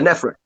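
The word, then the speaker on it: Nephrekh: The Nefrek.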